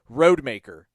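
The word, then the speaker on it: Rodemaker: with all these announcers I had no idea it was pronounced Tate roadmaker so another victim of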